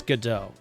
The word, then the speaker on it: Godot: I have no idea how to pronounce it, but because the judge misheard it and pronounced it Gobo, I'm thinking it's Godot. But anyway. I know a good few Godot fans.